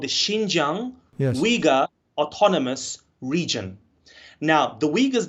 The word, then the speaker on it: Uyghur: So in my language, you would say Uyghur, Uyghur. but in the Western English, they normally say Uyghur.